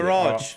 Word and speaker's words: Farage: Farage. Farage. Farage. Well, to be fair, it is pronounced garage. We don't go garage, do we?